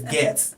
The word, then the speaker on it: Goetze: Spelled Goetze, but it's Goetze. So think Gets, but that's not how it's spelled.